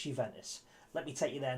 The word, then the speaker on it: Juventus: um on loan from juventus that's no no you didn't mishear me you ventus spelt with a j by the way it's a little bit silent but it's juventus let me take you